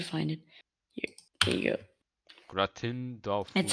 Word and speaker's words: gratin: Gratin That's how it's Dauphinois. called. How do you say it? You can pronounce.